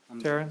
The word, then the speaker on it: Taran: woods wood okay sorry your first name sir i'm sorry it's pronounced taran sorry for the handwriting